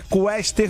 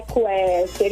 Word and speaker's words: Quester: É Quester mesmo, né? É Quester, isso mesmo.